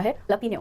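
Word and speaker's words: jalapeño: हैं ना, ये वाली, उसको लिखा जाता है जैलपिनो पर प्रोनाउंस किया जाता है लपिनो। काफी मिसलीडिंग है, क्यों, जब जे से शुरू हुआ है तो ह से प्रोनाउंस करना है, पर ये ऐसे ही प्रोनाउंस होगा, वी कैन not help it. The pronunciation is हलपिनो।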